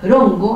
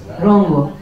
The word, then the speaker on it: Rongo: Aprovecho de decirles que la R en Rapa Nui no existe, es R, Rongo, Rongo, Rapa Nui, Rongo. La NG tampoco existe, pero yo no la he podido pronunciar bien, es Rongo. Es como si uno estuviera así como resfriado, Rongo, así, Rongo, pero